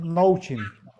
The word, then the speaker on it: Noaching: Noaching, Noachin es, mm, pues lo pronunciamos Nouchin.